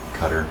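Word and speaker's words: Qatar: actually I went to uh uh qar or Cutter as it apparently it's pronounced cutter really um yeah but so JJ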